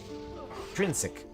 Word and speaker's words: Trinsic: For love of you, OJs, you sure don't know how to pronounce the names of the cities. That's Trinsic. Minok for life, nice.